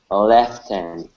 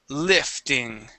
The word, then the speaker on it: lifting: the beginning lifting lifting lifting left okay we're going to use the short I instead of left it is lifting uh lifting okay very